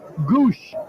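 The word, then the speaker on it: Gwosdz: though gwos DZ is the spelling but it's pronounced Goose well his nickname is ichart and you can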